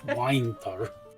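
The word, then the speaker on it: Wynter: spelled like W-Y-N-T-E-R. It's Winter. Winter. Just make sure you spell it right so it doesn't look like you're saying wiener.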